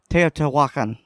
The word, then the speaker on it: Teotihuacan: Is this was at does anyone know how to pronounce this pyramid? My mind is terrible. Teotihuacan.